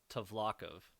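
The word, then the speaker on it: Tvlakv: his misery the correct spelling is a kv-2 flock of is how they say it in the audiobook okay I definitely thought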